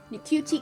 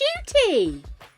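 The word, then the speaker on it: Ncuti: Is it pronounced Shooty? I've definitely been pronouncing it incorrectly then.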